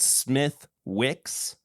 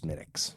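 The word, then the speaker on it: Smithwick's: Stouts it was Guinness yeah harp oh and smiix what is smiix uh it's an Irish Red Ale okay it's spelled Smith Wicks Smith Wicks yeah oh okay but it's it's pronounced smiix gotcha cuz it's Irish and their language makes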